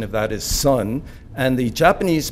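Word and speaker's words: 선: is Chan the Korean pronunciation of that is sun and the Japanese pronunciation of that is Zen so most people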